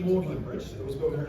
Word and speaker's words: Magdalene: So he told everyone, instead of pronouncing it Magdalene College, they should pronounce it Magdalene College, after his own last name, Thomas Orwell.